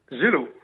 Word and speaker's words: Geslo: Attention, monsieur Geslo, c'est son nom, ou Gélo, on prononce comment votre nom de famille, François Nicolas? Gélo. Monsieur Gélo.